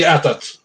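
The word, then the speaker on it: AT-AT: Uh you guys the Star Wars lovers how would you pronounce that? Uh we yeah we say atat that's why I put it as as well.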